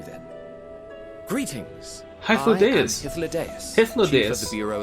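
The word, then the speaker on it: Hythlodaeus: I am Hyphlodeus, Hyphlodeus. Chief of the Bureau of the Architect. Oh. Hyphlodeus.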